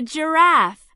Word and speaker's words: giraffe: This is a giraffe. What's the beginning sound of giraffe? J. That's right. J. Giraffe.